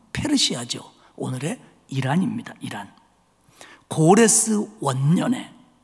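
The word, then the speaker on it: Persia: 정확한 영어 발음은 페르시아죠.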